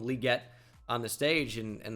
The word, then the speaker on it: Legette: first pickup here and calling him Xavier Legette for the longest time now he never corrected anybody until uh his his uh draft interview because Roger gell called him liette on the stage and